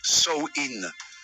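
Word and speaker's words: Samhain: ancienne fête celle appelé samhin prononcé sin pendant samhï on croyait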